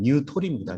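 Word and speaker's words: Nutri: 이 뉴트리라는 게 일본 사람 발음을 하면 뉴토리입니다.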